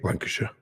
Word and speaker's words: Lancashire: Lancashire. So that's or what? No. Yeah. Yep. Lancashire, like the county.